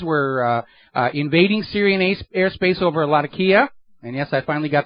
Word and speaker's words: Latakia: And the Israeli F-15s were invading Syrian airspace over Latakia. And yes, I finally got the pronunciation correct on that.